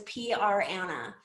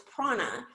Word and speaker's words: prAna: Okay, look, when I first saw this name, I thought it was PR Anna, like a PR executive named Anna. And it's not, it's Prana.